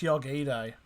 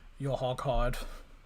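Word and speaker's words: Urhoghide: Oh, it's pronounced Yogide. I just heard the commentator say it, so that's how it's pronounced, not Yahogide.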